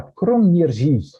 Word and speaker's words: Kroměříž: Perto de Lednice, perto de Brno, sempre ali na Morávia, nós temos esta cidade que é difícil pronunciar, mas se fala Kroměříž.